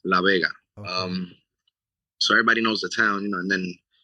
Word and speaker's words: La Vega: The town that I'm from is called La Vega, Uh. kind of like Las Vegas, but it's La Vega.